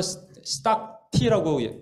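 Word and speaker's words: stacte: 자, 여기에 요거는 이제 주님인데 이 3가지는 합향, 영어로는 스탁티라고 발음하더라고요. 스탁티. 소합향, 스탁티.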